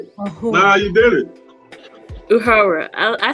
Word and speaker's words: Uhura: I say, think of like if a owl would say her name, Ahura. Ahura. Like a whore.